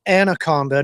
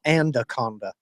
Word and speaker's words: Anaconda: was singing Nicki Minaj it's Anaconda not andaconda I have can I